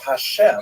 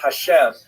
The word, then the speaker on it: Hashem: And the word Hashem, of course, is pronounced with the letter H, but there is no letter H in the Russian alphabet. So in order to indicate that it should be pronounced as an H, they took the letter